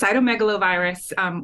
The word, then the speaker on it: cytomegalovirus: You did a great job with the pronunciation. It's cytomegalovirus.